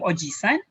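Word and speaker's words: おじさん: grandfather okay grandfather okay be careful once pronouncing this one because you want to call your uncle so instead of calling him ojisan okay oh gee son it was your evil oh jesus okay so you will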